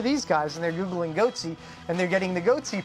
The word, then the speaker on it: Goatse: guys and they're Googling goatsy and they're getting the goatee picture they're called goat sea security is that my pronouncing that correctly yeah that's right we're analyzing coverage from